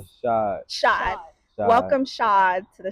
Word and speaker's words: Shad: Shod.